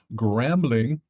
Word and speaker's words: Gramling: Gramling rhymes with gambling.